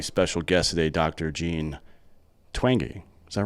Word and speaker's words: Twenge: have a very special guest today Dr Jean twangy is that right wow got it right how